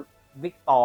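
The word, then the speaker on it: Vitor: วิ เ อ่าน สรุป ไม่ อ่าน ว่า เล ใช่ มั้ อ่าน ว่า วิกตอร์ ไ เพราะ ตัว r ของ บราซิล ตัว ฮู่ OM มามุ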